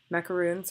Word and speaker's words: macaroon: Macaroons are the ones with coconut. Macarons are the ones that look like this that everyone loves to take pictures of.